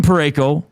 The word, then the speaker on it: Parayko: Does his name rhyme with Mareko? Colton Parayko.